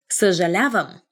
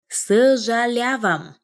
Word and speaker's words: съжалявам: Съжалявам. Съжалявам.